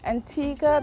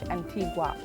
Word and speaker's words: Antigua: antigua or antigua why antigua because that's the way we pronounce it here on the island and we don't say it like the spanish antigua antigua antigua antigua antigua